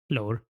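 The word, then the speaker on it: Lahore: bar mountain or B Bar yeah you just pronounce like when people say L it's not how it's said it's l lore yeah there's a yeah there's a weird tone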